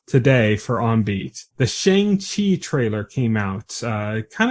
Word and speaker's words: Shang: Yeah, like, I got in the habit of saying Shang, and then I found out it's Shang.